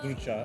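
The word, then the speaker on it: Drča: But when it comes to European, like I had a friend whose surname was spelled in English D-R-C-A. Serbian fella, surname, he goes, it's pronounced Ducha.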